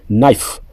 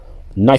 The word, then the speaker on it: knife: Knife. Knife c'est le couteau. On ne prononce pas knife. On dit knife.